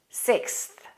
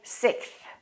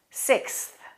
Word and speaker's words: sixth: the combination of consonants it's very difficult to pronounce the x and then the th the x represents a k and an s and then we have a th we have three consonants together that's called consonant clusters let's make sure that we pronounce all three consonant sounds sixth sixth try not to skip that s don't say sixth let's say that again sixth we threw a big